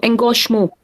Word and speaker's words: Engagement: Engagement. Engagement. Engagement. Yeah. Let's see if I can find it here. Sure. Engagement. Je. Yeah. This is a je sound.